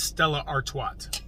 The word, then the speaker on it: Stella Artois: And I know you guys are going to say I'm not pronouncing that correct, but it is Stella Artois.